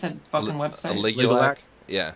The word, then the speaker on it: Aligulac: I thought that the Alugic thing was, how do you pronounce that fucking website? Aligulac? Yeah. Aligulac.